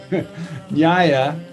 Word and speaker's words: nyaya: And nyaya, like nya-nya-nya-nya-nya-nya, nyaya, followers of nyaya are, by the way, are called nyayikas or nyayikas, is the logic school.